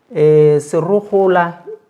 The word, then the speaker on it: Serogola: Serogola, am I correct? Yes, you're pronouncing it well, Serogola, for reasons best